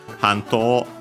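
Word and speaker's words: 半島: suffix, and yeah, unsurprisingly, the accent for Hanto, unaccented on its own, when added as a suffix, the accent is on the ha.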